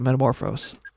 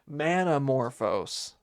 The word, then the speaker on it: Manamorphose: Oh, I could just Look up Metamorphose. Yeah, that is not right. Manamorphose. Man, I think I've been saying it wrong the whole time.